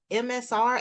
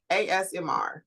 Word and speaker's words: ASMR: Like you hear them chopping, and they said it was MSR, AS. AS. Now you got me saying it wrong. ASMR.